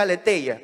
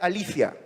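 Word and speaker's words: ἀλήθεια: es la palabra griega generalmente se pronuncia aletheia pero en realidad debería pronunciarse alicia alicia al éter ya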